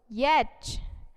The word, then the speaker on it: yacht: Y, Y for yak and Y for yacht, YACHT. Here T is silent.